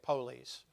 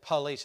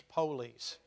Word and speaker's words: police: That's how you say it, police. You don't say police. It's not P-A-L-I. It's police. But anyway, when the police would get after them, they'd outrun them.